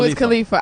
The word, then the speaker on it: Wiz Khalifa: Wiz Khalifa.